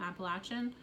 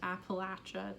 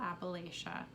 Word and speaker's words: Appalachia: from appalachia i am appalachian i grew up near cumberland gap um it's pronounced appalachia not appalachia you should pronounce out of respect you should pronounce the word how the actual people pronounce it latcha appalachia um anyway